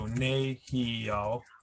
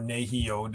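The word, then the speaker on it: nēhiyaw: regions I'm familiar with, if there's 3 syllables, so nehio or nehio, depending on the region you're in, you come back from the right side and you go 1, 2, and then this syllable is stressed.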